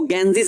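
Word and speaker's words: Ganges: गलत नहीं है बच्चे अंग्रेजी में गंगा को ना गंगा नहीं बोलते उसको गेंजिस बोलते हैं ये जो आप स्पेलिंग देख रहे हैं ना इसको गंगा नहीं पढ़ते हैं इसको पढ़ते हैं गेंजिस अंग्रेज लोग गंगा नदी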